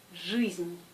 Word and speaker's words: жизнь: Oui, ici, de la même façon, I se prononce U, le G est toujours dur. Alors c'est жизнь, жизнь, pas жизнь, жизнь.